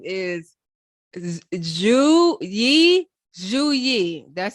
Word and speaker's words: Zhu Yi: Zhu Yi, that's how it's pronounced because I listened to it.